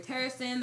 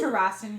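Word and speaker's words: Terrasen: when they arrived in terason the response from people there Terin I don't know how to pronounce it I agree it's Terin here Terin not terason like Harrison okay yeah because like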